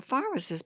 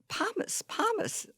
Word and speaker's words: pharmacist: Pharmacist, the PH has a F sound.